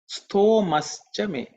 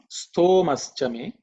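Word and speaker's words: स्तोमश्च मे: Next one mantra is Stomaschame. Stomaschame. Stomaschame. Okay. Simple in terms of pronunciation, there are no aspirated consonants. Stomaschame. If you split the stomaschame, it's stomaha chame.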